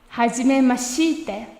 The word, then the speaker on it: はじめまして: Quick pronunciation note. Don't pronounce this E sound here. Even though it is written, it sounds a little odd to say はじめまして. Here's the correct pronunciation one more time. はじめまして.